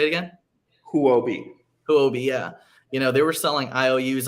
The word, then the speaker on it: Huobi: I think it's wrong that Hubio, or I don't know how to pronounce that exchange, was selling IOUs. We'll say it again. Huobi, yeah.